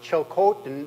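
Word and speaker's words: Tsilhqot'in: or a governmental perspective just a a note on pronunciation um uh chil Coten that's the way I've pronounced that ever since the trial judge came down whenever that was six or seven years ago uh justice vicker's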